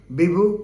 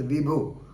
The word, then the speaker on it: Bibhu: Shah and Krishna Murari in the case of Sudhamayee Patnaik versus Bibhu Prasad Sahoo. Normally we call them as Vibhu, but they have pronounced as Bibhu, B-I-B-H-U, Sahoo.